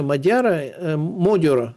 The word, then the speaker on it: Magyar: А какие варианты у этого Европейского Союза, особенно после выигрыша Модиора, это так произносится по-венгерски, Петя Венгр, это так переводится, Петя Венгр, Петруха Венгр, потому что Модиор означает венгр.